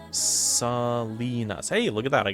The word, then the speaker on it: Salinas: That's pronounced Salinas.